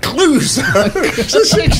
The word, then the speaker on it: Clouseau: Clouseau. She can get a point. Just 5 points. Colombo. All right. Just Clouseau. End in O. Sounds like an O. It's not spelled like that.